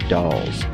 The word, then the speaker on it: Dalles: So anyway, I go to take my driving test and I drive to a town called The Dalles. It's spelled Dalles.